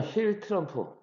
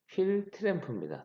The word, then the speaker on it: 휠 트램프: 휠이라고 합니다 휠 그다음에 휠 트럼프 아 발음이 좀 그러네요 휠 트램프 트럼프가 아니고 휠 트램프 어 휠 트램프 차축이 x 축을 중심으로